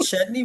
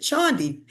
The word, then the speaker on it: Chudney: However, my parents are a little phonetically challenged, and so instead of us pronouncing it Chutney, we pronounce it Chandi.